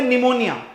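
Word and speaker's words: Pneumonia: give you an example अब हम बोलते निमोनिया बट आपको पता है निमोनिया की की स्पेलिंग स्टार्ट होती है पी से तो दिस इज नॉट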